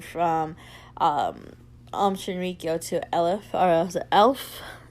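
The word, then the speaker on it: Aleph: The um organization had changed its name from um um Shenrio to Elef. It sounds like elf but um they had changed it.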